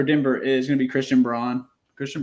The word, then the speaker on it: Braun: is gonna be Christian Braun Christian Brown I never pronounced his name right I do it on purpose I know yeah it's brown but